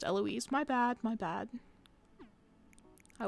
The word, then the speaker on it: Eloise: Kimberly not too nitpick but her name is pronounced Eloise my bad my bad I will focus on